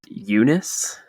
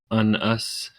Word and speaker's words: Unus: The first villain is, I'm assuming it's pronounced Eunice. I would think so. Eunice instead of Unus. Just no.